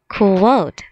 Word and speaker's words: quote: quote qua oh ha e is silent quote and it's using quotation